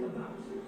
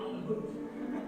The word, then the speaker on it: about: I speak English and French, not American, and I pronounce it about, not a boot.